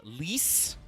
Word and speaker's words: Lise: There's also a slight correction on Lee. Apparently, she is Lise with an S sound at the end.